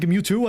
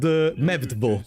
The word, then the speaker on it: Mewtwo: And so instead of saying Mewtwo, I always said Mevdvo. Be a big shot. Be a big. Because in Italian, W can be pronounced V, like, no, but I did it. And so I just called it Mevdvo.